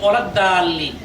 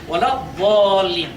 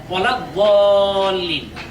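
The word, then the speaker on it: ولا الضالين: অনেকে বলে থাকেন গয়রিল মাগদুবি আলাইহিম ওয়ালাদ দাল্লিন, এখানে দাল্লিন না হয়ে এই যে দোয়া দেখতে পাচ্ছেন হবে ওয়ালাদ দাল্লিন, দোয়া জবর ওয়া, ওয়ালাদ দাল্লিন।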